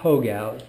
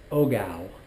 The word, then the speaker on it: hogao: Okay, and it's called hogao. It's not hogao, it's spelled with an H, and the H in Spanish is pronounced silently, so it is ogao.